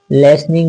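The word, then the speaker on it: listening: लिनिंग लोग पढ़ते हैं लेकिन लेटी साइलेंट लिसनिंग इसको टी यहां पर साइलेंट है क्योंकि इससे पहले यस है तो टी साइलेंट हो जाता है कई सारे साइलेंट लेटर्स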